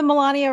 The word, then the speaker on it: Melania: You know, Melania rhymes with Somalia. And I've noticed that he doesn't say it like Somalia Somalia Somalia.